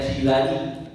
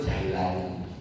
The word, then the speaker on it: Jilani: bacanya jilani. Cuman orang ada nyebut Jailani. Ada namanya Jailani aslinya Jilani di daerah Jil.